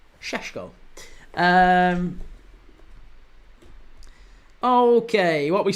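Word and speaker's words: Šeško: It's pronounced Sheshko. Sheshko.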